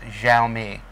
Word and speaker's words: Xiaomi: Starts with an X, but it's pronounced Xiaomi. The camera first premiered as the Xiaomi Mi Sphere, M-I-S-P-H-E-R-E.